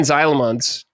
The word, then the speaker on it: Zijlemans: But yes, also our special guest, we have uh Xylons. Yeah. Once again, uh, forgive me for the butchering of your last name pronunciation.